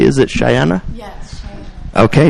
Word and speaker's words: Cheyenna: um our next guest is cheyana am I pronouncing that correctly is it cheyana yes Chey okay cheyana and as they put it on their Twitter